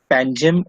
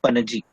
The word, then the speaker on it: Panaji: What is the correct pronunciation of the capital of Goa? Panjim or Panaji?